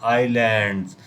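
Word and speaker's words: islands: इट has about 25,000 आइलैंड्स, यहाँ बच्चों S silent रहता है, इसको क्या पढ़ते हैं? आइलैंड्स।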